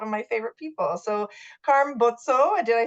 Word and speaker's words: Carm Bozzo: by really one of my favorite people so Karm boto did I say it right you did I